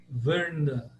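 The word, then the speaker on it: Vṛndā: fica a pronúncia de Vrnda, Vrnda, Vrnda. O er é como se fosse de fur, Vrnda, Vrnda, Vrnda. Esse é o bem clássico, Vrnda. Tem que enrolar a língua.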